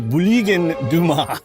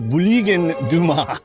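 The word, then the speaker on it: Bulygin Duma: state parliament known as what Google tells me is pronounced as the Buligin Duma. Russian speakers tell me if I'm wrong, but it is pronounced as the Buligin Duma.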